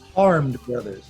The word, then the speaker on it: Harmed Brothers: Harmed brothers, Harmed Brothers, as in you've been harmed? as in oh woe is me.